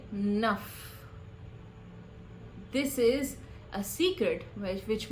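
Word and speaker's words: नः: While writing the Gayatri Mantra, we write Nah with a H sound. But while speaking the Gayatri Mantra, you will say Naf.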